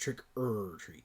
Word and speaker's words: Trick 'r Treat: but it is pronounced trick er treat trick or treat not trick or treat trick-or-treating yes you just say it fast trick or treat yeah